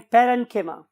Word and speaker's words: parenchyma: तो बहुत से लोग इसे कोलेनकाइमा भी बोलते हैं, बट the true pronunciation is कोलेनकीमा एंड पेरेनकीमा।